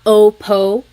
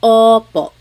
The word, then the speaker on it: opo: Sometimes I think of it like having a ball in your mouth. Your tongue gets kind of pushed back and down a little bit and the inside of your mouth is open and wide. So O like OPO oppo. It's not OPO. It's oppo.